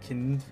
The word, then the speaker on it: Kind: It was kind of German, and it's kind in German. It is pronounced kind.